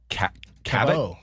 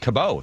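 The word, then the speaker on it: Cabot: Anyway, uh and Christine Cavo Kabo Kabo. Sorry. All these years I've been mispronouncing your name.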